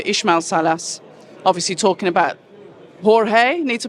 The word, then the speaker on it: Jorge: just speaking to ishma Salas obviously talking about Jorge need to pronounce his name properly George okay George and he was saying he believes that he's